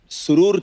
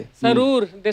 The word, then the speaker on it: सुरूर: सुरूर word इतना नया था उस वक्त, तो अलग अलग तरीकों से लोगों ने सुरूर जिस तरह से प्रोनाउंस करते थे, सरूर सरूर भी बोलते सुरूर, थे।